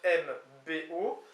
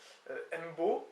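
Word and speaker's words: 'mbo: Donc, je veux, semble-t-il, c'est apostrophe M-B-O. Mbo, un peu comme dans des langues un petit peu africaines, semble-t-il. Donc je veux ou je ne veux pas, Mbo quête ou Mbo.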